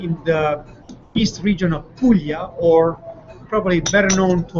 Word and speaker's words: Puglia: the east region of Puglia, or probably better known to Americans as Apulia, probably because it's easier to pronounce and spell, Apulia, versus Puglia, which is Pugalia.